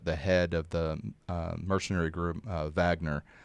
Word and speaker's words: Wagner: of the mercenary group Wagner, or if you want to pronounce the W, Wagner.